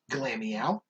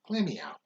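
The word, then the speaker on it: Glameow: the difference then because you're putting the emphasis on the meow part and you're putting it on the glam part yeah the both of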